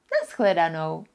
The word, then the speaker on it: Na shledanou: O, for example, in a word, naschledanou. That means goodbye.